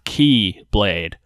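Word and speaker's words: χ-blade: to merge back together creating the x-blade to pronounce the key blade yes it's confusing the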